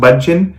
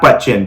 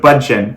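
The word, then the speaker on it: Bündchen: name but i believe it's bud chin is pronounced bunchen not butchen but bun chin well she makes about 17 million dollars so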